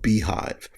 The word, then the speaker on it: Beehiiv: And we went to a company called Beehive. It's spelled, let me get this right, Beehiiv.